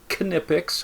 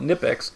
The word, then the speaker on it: Knipex: And then Knipex, and it's either pronounced Knipex, I've heard some people, and then I've heard some people call it Knipex, and it's spelled Knipex.